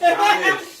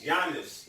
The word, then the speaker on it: Giannis: I know it's Giannis. He tried it. It's Giannis. Not Giannis.